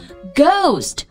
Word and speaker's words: Ghost: 我们看几个例子啊， Ghost 鬼魂 GHOST 这个 H 不发